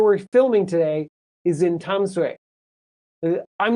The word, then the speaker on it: Tamsui: But a few years ago, recently, they changed it to, I think, the Taiwanese pronunciation, which is, Tamsui, or something like that.